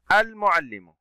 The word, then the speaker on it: المعلم: المعلم، اللام هنا شمسية أم قمرية؟ والتلاميذ، اللام هنا شمسية أم قمرية؟ أحسنتم، المعلم اللام قمرية لأنها تنطق، وجود حرف الميم وهو من حروف اللام القمرية.